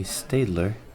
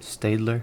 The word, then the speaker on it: Staedtler: other one being the Staedtler Fineliner. Hope I'm saying that right. Staedtler. I know sometimes people get that name wrong. I usually call it Staedtler, but Staedtler.